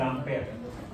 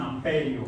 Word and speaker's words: ampere: La corriente es I mayúscula, cursiva, y la unidad es el ampere. Ampere se escribe y el símbolo es A mayúscula, normal. A mayúscula, ampere. Ya dijimos que no le llaman amperio, suena horrible.